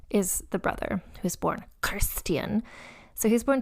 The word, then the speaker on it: Christian: So yeah, so then the son was born a name that is pronounced, as my Danish consultants have both said, with a very guttural, almost like Klingon type thing.